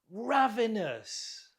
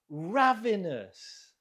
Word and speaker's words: ravenous: She is ravenous. Ravenous. Note the stress on the first syllable.